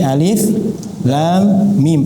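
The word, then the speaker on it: الم: Nah, ini kan huruf kita bacanya tidak pakai alama tapi alif lam mim pakai nama huruf.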